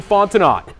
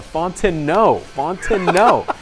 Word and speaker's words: Fontenot: Gavin Fontenot looking for Nathaniel Wilkinson. He's got him, and I've got his name wrong again. I thought I had it right there. Fontenot.